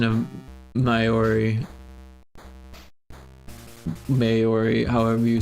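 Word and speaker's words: Māori: sure we could more easily found a pronunciation of Maori, however you say it.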